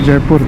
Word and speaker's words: Jeypore: So it's spelled as Jeypore, and sounds similar to Jaipur.